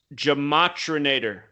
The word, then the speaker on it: Gematrinator: Gematrinator. So kind of like the Terminator.